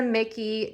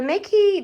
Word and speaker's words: MICKE: mickey desk i blew i believe it's pronounced mickey it's m-i-c-k-e desk at ikea and this is the mickey drawers so together i